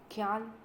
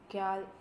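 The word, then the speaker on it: quel: Kyal, kyal, kyal, and kyal. These four pronunciation are same, but the spelling is different.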